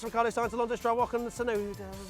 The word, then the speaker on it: Tsunoda: Sainz, Alonso, Stroll, Ocon, Tsunoda. Tsunoda's so difficult when you see a T and you're English and you're like, well, that can't be an S, but it is. That's the way it's pronounced, Matt.